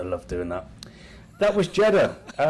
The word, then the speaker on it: Jeddah: That was Jeddah. Jeddah rhymes with cheddar, as in cheese.